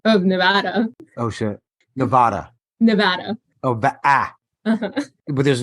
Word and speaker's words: Nevada: Sean, I do want to fight you on the pronunciation of Nevada. Oh, shit. Nevada.